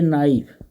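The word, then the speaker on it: knife: ए नाइफ, नाइफ में KNIF, वाइफ मैंने पत्नी ले, नाइफ मतलब छुरी, चाकू, तो यहाँ पे के साइलेंट है, ये देखिए के साइलेंट है, इसलिए नाइफ बोलना है, कनाइफ नहीं बोलना है, नाइफ बोलना है।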